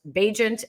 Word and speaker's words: Bagent: card for this week, it says Bagent as in agent, so that everyone knows how to say his name.